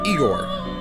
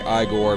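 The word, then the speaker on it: Igor: the G is highlighted his name is Egor that's what we said earlier I say I Gor because Young Frankenstein that's not important that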